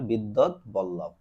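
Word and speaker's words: বিদ্বদ্বল্লভ: বসন্ত রঞ্জন রায় বিদ্যৎ বল্লভ কে বিদ্যৎ বল্লভ এটার উচ্চারণ হবে বিদ্যৎ বল্লভ আবিষ্কারের সময় এবং স্থান কোথায় এটা হচ্ছে পশ্চিমবঙ্গের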